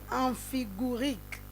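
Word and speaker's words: amphigourique: On va prononcer. Voilà, le mot du jour d'aujourd'hui, il s'agit du mot amphigurique.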